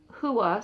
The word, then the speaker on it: hua: other place it was hua. So I believe that's what the confusion was. Okay, the Maori view of hua, so now I'm going to pronounce it like that, and that's H-U-A, would seem to require a universe with certain properties.